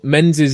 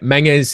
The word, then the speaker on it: Menzies: So it's Menzies is the anglicised way of pronouncing it. Menges is the Scottish way of pronouncing it, and you can already hear my accent coming on the Scottish way of doing it. But it's honestly Menzies. Menzies totally fine.